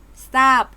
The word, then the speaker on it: ทราบ: ตัว อื่น นะ คะ รูป ทร ออก เสียง ซ ออ เช่น ทรัพย์ อ่าน ว่า ทรัพย์ ส่ง อ่าน ว่า ส่ง ทราย อ่าน ว่า ทราย ทราบ อ่าน ว่า ทราบ และ สุด อ่าน ว่า สุด